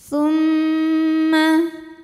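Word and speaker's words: ثُمَّ: berhenti boleh juga diteruskan tumma ada hukum ghunah musyaddadah karena mim bertasdid cara bacanya dengung bunyi m-nya tahan sampai ada suara masuk hidung tumm alifnya ini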